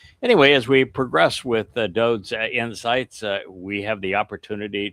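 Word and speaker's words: דוד: If you're unfamiliar with that pronunciation, the fact is that Dode's name is written as DWD, Deleth, Wa Deleth. Every time that anything is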